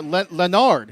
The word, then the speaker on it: Leonard: he did a great or lenard is how you pronounce his name but leonard hill number